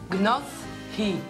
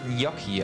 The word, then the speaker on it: Gnocchi: Gnoff hi. Das ist falsch, es wird Gnocchi ausgesprochen.